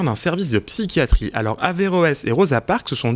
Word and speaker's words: Averroès: Averroès et Rosa Parks, c'est juste comme j'ai prononcé? Oui, Averroès et Rosa Parks, c'est juste, c'est le nom